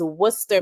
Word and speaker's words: Worcester: And I did want to flag that I do know how to pronounce it. It is Worcester, Massachusetts.